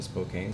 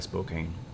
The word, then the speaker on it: Spokane: I have a safe flight plan in Spokane, so I'm gonna go ahead and pick that up.